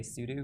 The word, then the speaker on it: sudo: Maddie yeah sue do so people pronounce it differently I say sue do because it sounds like the word Souter but I have to